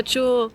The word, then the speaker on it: JUL: And the first thing I want to ask you, is JUL Design the correct pronunciation? Yeah, JUL.